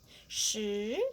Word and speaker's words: 十: 十, the second tongue.